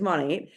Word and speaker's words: Monat: like to say is at the beginning it was very simple you guys to describe to people how to say it it is modern nature Mo Nate okay but now we've